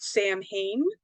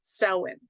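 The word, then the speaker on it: Samhain: any of that stuff because it looks like it's spelled Sam Hayne but it's actually pronounced Selwyn uh and so and this is really where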